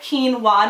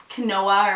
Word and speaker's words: quinoa: I'm sure a lot of you guys have heard of quinoa by now and know how to properly pronounce it. Quinoa, not quinoa or whatever, how people pronounce it.